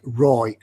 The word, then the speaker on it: ROI: noob says rule rule ROI is pronounced like Roy Roy Roy hello I think